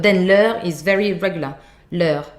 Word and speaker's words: leur: Leur, with a like soft R at the end.